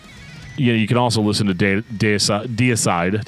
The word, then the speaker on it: Deicide: They just let me say it wrong pretty much my entire life until one day I was like, oh yeah, Deicide.